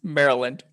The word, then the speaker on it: Maryland: It's not a long why. It's Maryland. Maryland.